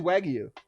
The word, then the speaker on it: Wagyu: Did I say it wrong? Wagyu. It's Wagyu. Yeah, I mean, I don't know if you have to hit it that hard. I don't think you have to Wagyu.